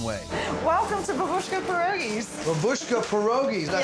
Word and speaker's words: Babushka Pierogies: Babushka Pierogies, did I say it right?